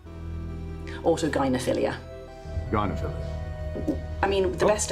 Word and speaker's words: autogynephilia: You talk about a condition called, I think it's pronounced autogenephilia, Autogynephilia.